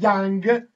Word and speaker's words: Jung: Δεν ήξερε ότι, πέρα, ότι το προφέρεται Young. Έτσι το διάβασε Jung. Σου λέει θα λέγεται Young.